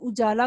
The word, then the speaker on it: اجالا: اجالا آپ کو پتہ ہے، دیکھا ہم نے اجالا کو الف کے اوپر پیش کی آواز کے ساتھ پڑھا، تو جو ہم بولتے